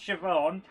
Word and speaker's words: Siobhan: it was actually pronounced siobhan and that's one of the easy ones yeah um irish people's names are basically spelt not like how they're pronounced i mean like really